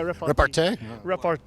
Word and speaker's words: repartee: a bit of good repartee. Is that the word? I don't know how to pronounce it, but that is the right word. Yeah, repartee. Rapport?